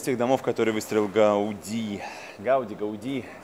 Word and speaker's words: Гауди: Гауди, все время путаюсь. Нет, он каталонец, конечно, с ударением на последний слог.